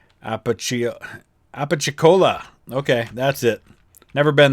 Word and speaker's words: Apalachicola: Looks like Appalachia. That's not how I pronounce that. Apalachicola.